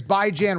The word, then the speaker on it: Bijan: It's bi as in bi-weekly.